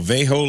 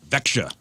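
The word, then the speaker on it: Växjö: Vejo Lakers. Nope, that's not how you pronounce it. Well, Vexia.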